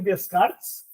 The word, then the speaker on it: Descartes: o olho funcionava foi Descartes Leart Leart eu acho que fala ele se escreve com s mas não se pronuncia o s então o nome desse